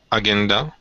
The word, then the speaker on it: agenda: I think we finished everything on the agenda for today. So let's, and I'm not sure, let's wrap this up quickly. Perfect. Excellent job. And that would be agenda with a soft G. Agenda.